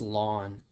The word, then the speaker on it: ln: notation y equals and the Ln is pronounced lon and that's referred to as the natural logarithm you do have a lawn button on your calculator